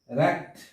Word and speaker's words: wracked: wracked, এখানেও কিন্তু w অক্ষরটি উচ্চারণ হয়নি।